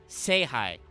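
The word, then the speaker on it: 聖杯: And World Chalice is specifically written as Star Chalice in the characters, but is pronounced, it is written phonetically, Seihai.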